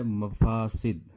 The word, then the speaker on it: مفاسد: مصیبت۔ دوسرا لفظ ہے مفاسد۔ مفاسد، میم کے اوپر زبر، فے کے اوپر زبر، سین کے نیچے زیر، دال کے اوپر جزم۔ مفاسد، مفاسد۔ بعض بچے